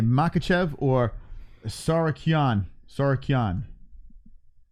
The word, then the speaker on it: Tsarukyan: Tsarukyan is how you should pronounce it. Tsarukyan.